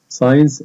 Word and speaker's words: science: Science, علوم. ال S بتنطق وال C بعدها silent ما بتنطقش, وال E في آخر الكلمة silent.